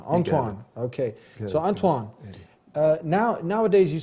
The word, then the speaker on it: Antoine: Back here on The Dean Show with Anthony, and proper pronunciation or proper way to say this name is Antoine. Antoine.